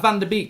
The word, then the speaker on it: Van de Beek: We're going to talk about Van der Beek to start off with. That rhymes with week.